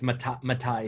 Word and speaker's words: Matai: So that's why I think going through the Tahiti specialist, which is, how do you pronounce it again? The Matai, is it? For Fiji, yes, it's Matai specialist.